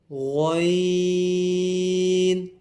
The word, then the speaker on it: غین: ظا، عین، عین، غین.